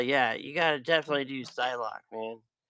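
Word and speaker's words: Psylocke: you gotta definitely do Psylock, man. If I'm saying that right. Yeah, you're saying it correctly.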